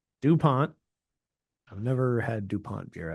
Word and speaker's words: Dupont: Dupon. Yes. I didn't pronounce it French enough, but I've had their se which is delicious.